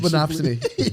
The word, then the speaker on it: monopsony: Let's go with Matt's pronunciation. Monopsony. Yeah, monopsony rhapsody.